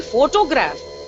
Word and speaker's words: photograph: with irregular stress patterns the same word photograph photography photographer now when you say photograph why don't you say photograph you don't do that so it is photograph but photographer so here you have stressed on four and here you are stressing on toe similarly economics economy economy